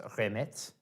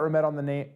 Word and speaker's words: Remette: So Remette, I have found out, is a variation on a word, I want to say it's pronounced Remette. I could be wrong.